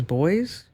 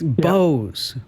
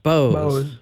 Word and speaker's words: Bose: Oh, that's not boys. You can never say it like that again. I'm going to embarrass yourself, Bruce. Okay, you ready? I'm sorry. It's Bose. Bows.